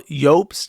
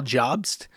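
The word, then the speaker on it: Jobst: people call him Carl Yops instead of Carl Jobs, even though that's how it's pronounced because it's a Germanic name.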